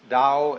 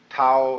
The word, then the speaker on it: Tao: the da ta AO pronounced Dao in the Mandarin dialect Tao in the changhai dialect toe in the Cantonese dialect